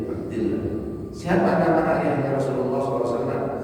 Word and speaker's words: Abdillah: Tapi kalau sebelumnya lafaz jalalain itu kasrah, dibacanya tadi Abdillah. Begitu ya, Abdillah.